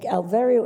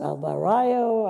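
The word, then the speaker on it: Alverío: So I did take, Alvario is my, Rosa Dolores Alvario is my name. And no one could pronounce it, Alvarayo, Alvario. So when my stepfather came along, he was the 4th one.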